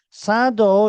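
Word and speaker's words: サ道: Sado is pronounced as sado. Do means like, judo, kendo, aikido's do.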